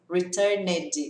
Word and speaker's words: returned: é brasil e mede não tem esse medi returned is in return return de óleo verbo orar